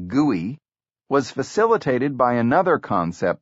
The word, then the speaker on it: GUI: This graphical user interface, or GUI, pronounced GUI, was facilitated by another concept pioneered at Xerox Park, bitmapping.